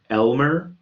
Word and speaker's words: lmer: we have to use lm e r and that's pronounced generally speaking elmer so if you're talking